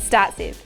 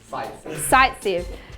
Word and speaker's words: Saytzeff: Did I say it right? Markotnikov and Startsev. Sightsev. Damn. Okay.